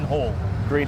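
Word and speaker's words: Hallgreen: can you just pronounce it for me it's pronounced h a double l green hall green hall okay i'll definitely be getting it wrong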